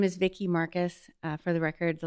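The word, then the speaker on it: Marquis: My name is Vicky Marcus. Uh, for the record, the last name is spelled M A R Q U I S.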